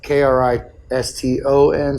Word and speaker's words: Kristen: My sister's name is Kristen, but it's Kriston, so it's Kriston.